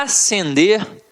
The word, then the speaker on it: acender: vamos para a próxima eu tenho a acender e ascender a pronúncia é a mesma então muito cuidado ó